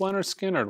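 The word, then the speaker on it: Lynyrd Skynyrd: a 45 RPM Leonard Skynyrd 45 RPM of pronounced Leonard Skynyrd one of my favorite Rock titles at Analog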